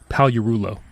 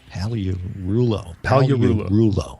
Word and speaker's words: Pagliarulo: He was nice enough to spell it phonetically for us. Yes, it's actually Frederick Pagliarulo. Pagliarulo.